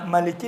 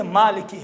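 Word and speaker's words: مالك: تو وہ قرات اس قرات کے حساب سے ملکی نہیں ہے، مالکی ہے۔ اب وہ قرات کا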